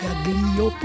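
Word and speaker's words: Gaglioppo: Galliopo, on prononce Galliopo.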